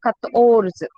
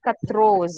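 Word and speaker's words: quatorze: See, it is Tor. Okay, so Kators, not Katros.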